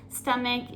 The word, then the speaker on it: stomach: the pronunciation here too stomach is the same like headache it is pronounced as the C sound even though it is spelled with the CH number 11 I've been